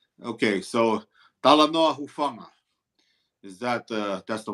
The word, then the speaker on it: Talanoa Hufanga: Talanoa Huifunga? Okay, so Talanoa Hufanga.